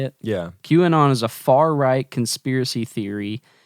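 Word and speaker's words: QAnon: Q anon so how you say it yeah q and on is a far-right conspiracy theory detailing a supposed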